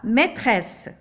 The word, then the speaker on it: maîtresse: Ici, nous avons deux S entre les deux voyelles, c'est-à-dire je dois les prononcer comme S. La maîtresse.